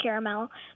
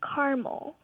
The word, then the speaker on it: caramel: my mom calls it caramel so I'm like what uhuh and where's your mom from my mom's from Texas okay so Dad pronounces it with three syllables and she pronounces it with two yes and you take